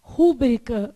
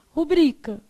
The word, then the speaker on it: rubrica: Então, por exemplo, a gente quer falar rúbrica, mas o correto é o quê? Rubrica.